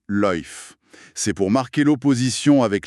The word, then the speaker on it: lyfe: Ils introduisent, d'ailleurs, un terme spécifique, la lyfe, orthographiée l y f e et prononcée loïf.